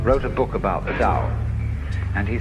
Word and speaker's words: Tao: paul the dao tao pronounced dao in the mandarin dialect tao in the shanghai dialect toll in the cantonese